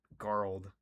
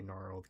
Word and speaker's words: gnarled: I spelled I pronounced that garled. Supposed to say gnarled.